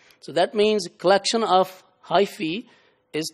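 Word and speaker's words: hyphae: If you add e at the end becomes plural and is pronounced as hyi.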